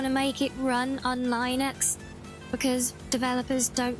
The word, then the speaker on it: Linux: You never heard anyone say it like Lin X before? Is that how I said it? Oh, Linux. What do you say? Linux. Is that it?